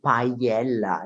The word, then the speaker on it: Paiella: You can say Paella. It's very difficult. I know it. It's remember the paella, the Spanish dish made of rice and meat and fish.